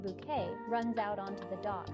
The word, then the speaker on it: Bucket: Up Appearances where hin bucket pronounced bouquet runs out onto the